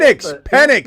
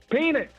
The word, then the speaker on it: Penix: I I absolutely not Michael penix Jr pen penex say it right penix penix say it right pen penix hey look